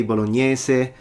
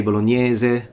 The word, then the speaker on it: Bolognese: The S, you can say bolognese, you can say bolognese, they're both fine, it depends on which region you're from, but spaghetti bolognese, not spaghetti bolognese.